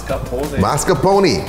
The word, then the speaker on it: mascarpone: mascarpone I don't know it's Italian I can't pronounce it mascarpone that's a Google translate pronunciation guys oh yeah oh yeah